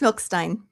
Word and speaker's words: Milstein: So welcome on stage S Milstein. Am I pronouncing your name correctly ma'am? Very close. Milkstein.